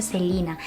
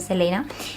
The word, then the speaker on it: Selena: mucha gracia porque, claro, ella se llama Selena porque se pronuncia así como en inglés. Lo que pasa que la mayoría de gente que hablamos español le llamamos Selena porque se escribe así y la costumbre, o